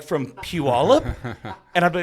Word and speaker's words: Puyallup: Like from Puyallup? And I'd be like, you said it right. Yes, you said Puyallup right.